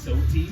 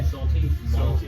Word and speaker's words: Soti: going right now so it's soty yeah soty you're saying with an l so so but sometimes